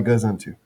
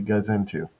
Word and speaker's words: gazintu: And then I'm going to draw my gazintu. And for those of you who don't know, the appropriate name for this symbol is the gazintu. And it's spelled goes into.